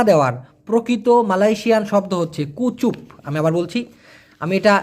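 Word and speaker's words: kucup: যদিও এই চিউমের অর্থাৎ চুমা দেওয়ার প্রকৃত মালয়েশিয়ান শব্দ হচ্ছে কুচুপ। আমি আবার বলছি। আমি এটা লিখে দিতাম তখন মনে ছিল না। কে ইউ সি ইউ পি। উচ্চারণ হবে কুচুপ। তবে এটা খুব বেশি ব্যবহার করা হয় না।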